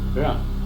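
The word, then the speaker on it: 仁: Although when we Romanize this word in English, we spell it J-E-N. It's pronounced Ren. Sort of like rolling an R, or rather saying R but not rolling.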